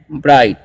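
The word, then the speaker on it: bright: और बी आर आई जी एस टी है। तो इसे हम लोग पढ़ते हैं ब्राइट।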